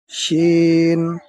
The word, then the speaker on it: ش: জিহ্বার মধ্যখান তার বরাবর উপরে তালুর সঙ্গে লাগাইয়া শিন হরফ উচ্চারিত হয়।